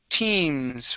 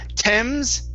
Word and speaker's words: teams: Next is, let's see here, the word teams right here. Okay, so instead of Thames, give me a long E sound. E-T, teams.